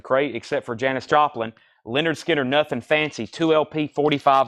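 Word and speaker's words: Lynyrd Skynyrd: get them at all Leonard Skynyrd pronounced Leonard Skinner Music On Vinyl press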